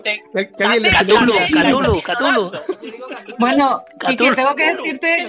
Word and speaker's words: Cthulhu: Yo lo digo Cthulhu porque creo que es la única forma de pronunciar todas las letras, aunque he leído una carta de Lovecraft que dice que en realidad la forma correcta de pronunciarlo, que es imposible porque es un idioma alienígena, sería glu, porque creo que tiene que sonar como una gota que cae.